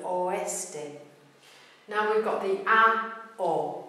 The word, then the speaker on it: oeste: but it exists, in the word for west, oeste, oeste, three-syllable word, oeste.